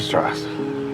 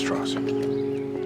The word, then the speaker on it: Strauss: Straws. It's pronounced Strauss.